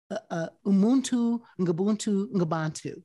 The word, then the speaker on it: umuntu ngumuntu ngabantu: civilization and this Zulu idea, this ancient idea, umuntu ngumuntu ngabantu.